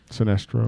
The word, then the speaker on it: Sinestro: Rivals and this how do you say his sinistro Sinestro yeah I'd rather I rather have him as